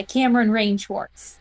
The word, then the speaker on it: Kameryn Rae Schwarz: Am I pronouncing that right, Kameryn? Yeah, Kameryn Rae Schwarz.